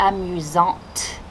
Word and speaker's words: amusante: Il est amusant, elle est amusante. Great, we pronounced the T.